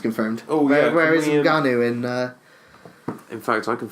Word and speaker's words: Ngannou: Ngannou, yeah.